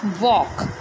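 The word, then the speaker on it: walk: Okay, next देखिए, next है हमारा वॉक। वॉक मीन्स क्या होता है, चलना। अब इसे हम वॉक नहीं बोलेंगे, इसमें जो एल है वो क्या रहेगा हमारा, साइलेंट।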